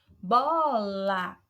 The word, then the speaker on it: bola: Bola, o bó é a sílaba tônica, se destaca mais do que a sílaba lá.